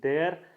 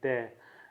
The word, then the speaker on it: there: Like if I say there, that is wrong, I should pronounce it like there.